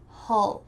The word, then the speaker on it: hull: Hull. This is a short U like bus.